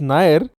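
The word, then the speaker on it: NAIR: obviously yes so the nir pronounced ner National Academy of Indian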